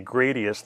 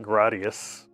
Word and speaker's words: Gradius: I say Gradius, not Gradius.